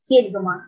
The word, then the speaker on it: кельгома: сказать вЕчкема, вечкЕма, вечкемА А в мокшанском языке только кЕльгома. Ударение падает на первый слог.